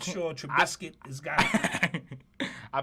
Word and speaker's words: Trubisky: Yeah, I'm not sure Trubisky has got it. I pronounced his last name right, yeah.